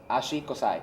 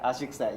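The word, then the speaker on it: 足臭い: Ashi kosai. Ashi kusai, yeah.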